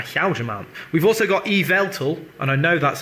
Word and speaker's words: Yveltal: We've also got Yveltal, and I know that's how to pronounce it because they gave a phonetic description on the Pokemon website of this.